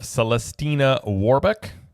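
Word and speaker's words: Celestina Warbeck: Dion alley you can catch holiday performances of celestina waru and the Banshees good job good job pronouncing that you're I you know what I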